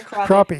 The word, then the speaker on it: crappie: It's pronounced Everybody- crappie. The Crappie.